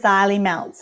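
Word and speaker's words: Xylimelts: particular are you interested in yeah there's the xylee melts and i'll spell it for you it's uh z x y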